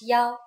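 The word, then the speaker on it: 幺: numbers and so on we pronounce one as Yao for example the bus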